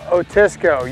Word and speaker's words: Otisco: Otisco? Otisco, yeah.